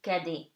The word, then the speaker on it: cadet: You do not pronounce the T. So it gives you cadet, okay?